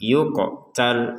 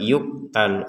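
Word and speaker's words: يقتل: Ada qaf sukun di sini maka kita pantulkan yuqtal, yuqtal seperti itu. Jadi harus ada pantulan. Kalau tidak ada pantulan sekedar yuqtal, yuqtal maka ini tidak benar.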